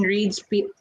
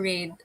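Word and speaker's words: Reid: Is it Reed or Raid? I don't I know think how to it's Reed. pronounce. I think it's I think Reed.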